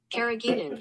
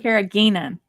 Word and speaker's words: carrageenan: something here hold on carrageenan do you hear it yeah carrageous carrageenan I I introduced the word and I mispronounced it so that's on me